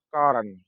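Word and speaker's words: corn: Bacaan yang benar adalah koren. Koren. Jadi ditulis C tapi diucapkan K. Coren kan tulisannya. Namun kalau diucapkan adalah koren. Sehingga huruf C berbunyi K.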